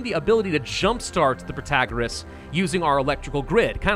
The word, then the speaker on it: Protagoras: Protagoras, that's the way you do it, so we can all stop yelling at me now.